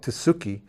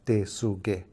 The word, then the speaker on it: Tesuque: I said it was it's called tsuki but it's a pronunciation has changed from the original name of de su gay which means a place where the role of trees are at so that's the traditional